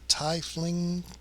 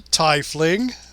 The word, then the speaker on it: tiefling: it's pronounced it's like one of them says tie Flings Thai are they throwing ties at people at Thai fling it's like no it's tiefling well that's what happens